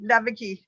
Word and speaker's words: Leweke: Yeah, it's pronounced like a V, Leweke. Leweke.